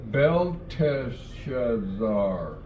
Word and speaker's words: Belteshazzar: Now, I want you to be very careful in pronouncing Belteshazzar. Make sure you get that T in there, because later on, the king of Babylon's son is Belshazzar.